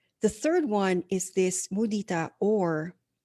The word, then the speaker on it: mudita: and the Pali word for it is called mudita. Okay, so it's spelled as Mudita, and it is actually part of the four highest qualities of the heart.